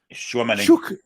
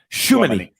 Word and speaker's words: Tchouaméni: They've got Hugo Lloris, Rafael Varane, Jules Koundé, Upamecano, Theo Hernandez, Antoine Griezmann, Olien Chikawemi. Not how do you say that? Tchouaméni. Tchouaméni. We'll call him Shu.